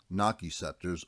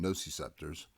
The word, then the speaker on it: nociceptors: representative of pain receptors also known as gnocchi scepters or i prefer the pronunciation nociceptors then there are encapsulated